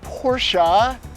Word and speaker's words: Porsche: for practicality from your Porsche and it is pronounced Porsche just a little Public Service I provide 142